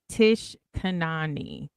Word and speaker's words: Tish Kanani: ever be so different okay no it is pronounced Tish Kanani okay when I was growing up people used